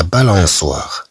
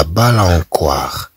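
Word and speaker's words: balançoire: مثلا لا بالانسوار، لا بالانسوار طبعا بدون هاد لا سيديل، إذن سنقرأها لا بالانكوار، لا بالانكوار حتى تقرأ لا بالانسوار.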